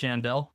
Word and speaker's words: Yandell: And we have our special guest, Yandell.